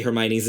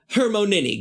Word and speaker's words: Hermione: back then was, like, how do you say Hermione's name? Because no one had any idea. And so here Joe finally put in, it's like, Hermione. Hermonini, got it.